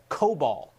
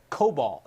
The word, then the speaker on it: COBOL: website and among others says it's COBOL COBOL is how you say that old programming language if you know how to use it maybe